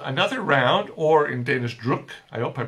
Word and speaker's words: druk: round or in danish druk i hope i'm pronouncing that right rook i'm sure my danish friends will tell me if it's not drook is like drunk but without the end all right so that's